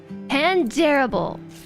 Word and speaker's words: Pandarable: Pandarable. That's the right way to say it. Like, terrible but dareable.